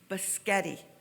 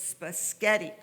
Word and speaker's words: spaghetti: to a native speaker because the center syllable was pronounced louder longer and higher than the